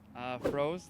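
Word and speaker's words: Froese: Froze, like water, kind of. froze like this movie Frozen. Like ice.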